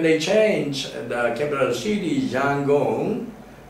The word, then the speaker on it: Yangon: And when they change the capital city, Yangon, it's taken from Rangoon. In fact, Rangoon is also the British pronunciation. In fact, the original name is Yangon.